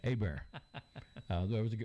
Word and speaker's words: Hebert: And a friend of mine is Richard Hebert. That's Herbrt. That's how you pronounce it Cajun wise. Okay. Hebert.